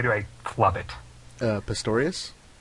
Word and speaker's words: Pistorius: inspired by and I'm going Simon will you pronounce this guy's name because every time I do I Club it uh Pistorius Pistorius yes Oscar Pistorius he was a Olympic track